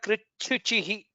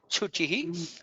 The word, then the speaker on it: कृच्छुचिः: Shishta kritchuchihi. Kritchuchihi. That was little, you might have to pronounce on the Mahaprana. Chuchihi.